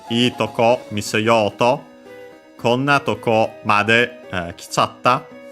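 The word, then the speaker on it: とこ: far the full form tokoro. Nowadays, in the standard word in Japan, the basic word in standard Japanese nowadays is tokoro. Toko is an abbreviation. Tokoro and accent toko, accent on the last one, so be careful about that.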